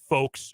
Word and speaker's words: folks: the city of Wichita all say the word folks with the l no one else I